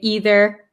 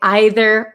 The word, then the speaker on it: either: I'm from America, so I say either and neither. But people from England, British people, or some people in America too say either or neither. So that depends on where you're from, what pronunciation you'd like to use. So both are correct.